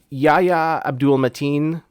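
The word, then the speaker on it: Yahya Abdul-Mateen: I mean, the the relationship between the main character, Yaya Abdul Matin, I believe is how you pronounce his name.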